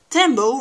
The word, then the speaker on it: tembo: you two hints one tembo rhymes with dumbo and second of all